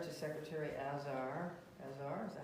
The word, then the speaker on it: Azar: Along those lines, excuse me, I also have written a letter to Secretary Azar, is that how you pronounce it? Azar, thank you.